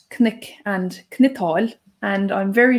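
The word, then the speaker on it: cnoc: Now, Hiwan, I said knick and knittal, and I'm very sure that you would pronounce those differently. That's correct. I'd be more inclined to say crook and crital.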